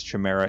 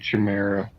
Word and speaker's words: chimera: find out where this chimera is because he can sniff it out. It really annoys me that you're saying chimera. What? It's chimera. It can be pronounced either way.